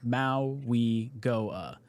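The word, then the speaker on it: Mauigoa: It is pronounced Maui Goa."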